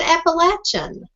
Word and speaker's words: Appalachian: me on and and you did say it right you said Appalachian and you know that is really what it is the Appalachian Mountains most